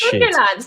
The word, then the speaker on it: Sunderland: And it's Sunderland. Say it right. Like Thunderland.